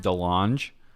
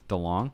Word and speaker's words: DeLonge: come on come on the launch DeLonge how you say his name the long you're right well you weren't right you said to launch the launch - launch